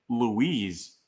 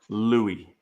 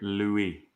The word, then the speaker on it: Louis: Venable said Eddie Pier Louise so I don't I don't know man it's according according to the pronunciation guide it is Louie so Eddie Pier Louie Lou like it but